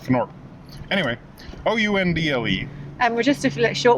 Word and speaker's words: Oundle: And we're in, I don't know how you pronounce it, obviously. Undel. Undel. It's probably pronounced Fnorp. Anyway, Oundle.